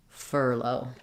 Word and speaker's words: furlough: even build from low furlough furlough has first syllable stress same the same ER sound and then my ough simply says o in this word I do have a